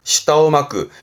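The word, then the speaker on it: 舌を巻く: 시다오마크.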